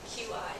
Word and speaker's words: qi: QI, that's pronounced qi in traditional Chinese medicine.